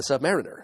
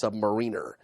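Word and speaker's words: Sub-Mariner: him as to the pronunciation of Submariner, since Matt, like so many, like generations of fans before him, pronounced it Submariner.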